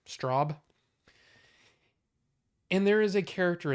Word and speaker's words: Straub: King and uh Peter Straub I think that's how you say it like strawberry Straub and there is a